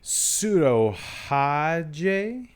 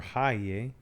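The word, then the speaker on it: Pseudohaje: The genus is Pseudohage or Haye, depending on how you want to pronounce J's.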